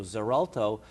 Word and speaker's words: Xarelto: called zerto it's it's it's pronounced with a z sound but it's spelled with x x a r l t so zerto or the generic name